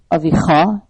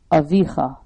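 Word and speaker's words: אָבִיךָ: It's not Avicha, it's Avicha. So we learn how to pronounce it based on these cantillation marks.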